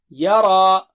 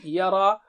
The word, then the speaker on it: يرى: Fahada, فهدى Yara. يرى Ya is here, Ra is thick.